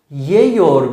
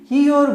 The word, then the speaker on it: yiyor: Yani yor ekini alan bir kelime yeyor biçiminde değil, yiyor biçiminde telaffuz edilir ve yazıya da böyle geçmiştir.